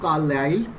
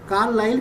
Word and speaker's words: Carlyle: रहा है according to कार्लाइल, इसको डिफरेंट प्रोनाउंसिएशन है, कार्लाइल भी कहते हैं, कार्लाइल भी कहते हैं। ठीक है, आप गूगल पे देख सकते हैं, गूगल में कार्लाइल कहा गया है इसको।